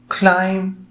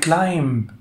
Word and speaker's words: climb: climb a mountain حرف B silent، وعادش يقول climb، لا wrong.